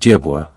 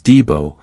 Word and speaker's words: Dibo: The dog men of the time always pronounced the name of Dibwa, and the newcomers referred to them as Dibo, I suppose because of the Spanish influence.